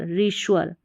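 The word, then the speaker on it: reassure: तो यहाँ पर है कुछ स्पेलिंग्स, जैसे कि REA, इसको री और श्वर, रीश्वर।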